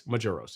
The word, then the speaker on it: Maduros: so i'm thinking okay it's gotta be mojos because that's how like a spanish women pronounce it but it's maduros it's like major like majoros so apologize for that